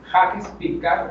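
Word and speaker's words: Jacques Piccard: El nombre es Jacques Picard, así se pronuncia, Jacques Picard.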